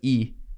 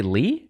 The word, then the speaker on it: Lee: Or Lee, because it's E in Korean. But right. It is what it is. Wait, is it just L-E? No, so in Korean, it's E. But it's spelled L-E-E. Oh, wait, so you don't say Lee?